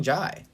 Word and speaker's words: Jai: white i've heard both i think it's john it might be jay because i've heard i've heard like jai courtney the guy who plays captain boomerang yeah yeah yeah that's how you pronounce it so i was like that well so it's probably jai okay well michael jai